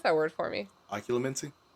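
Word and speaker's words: Occlumency: that word for me oculomency people keep doing this thing where they put an extra u in there it's like spelled like ocean l-u-m-e-n-c-y yeah everyone puts an extra u in there Haley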